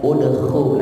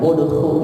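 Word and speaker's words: اُدْخُل: Adkhulu ini bacanya u apa i. Lihat huruf ketiganya, udkhul. Nah, doma kan, udkhul, ikuti itu.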